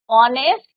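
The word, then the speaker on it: honest: एन uh bubble sound ऑनेस्ट एच is your silent and ऑनेस्ट मैन एच is your silent यहां पर भी H silent है सारे बचे नोट डाउन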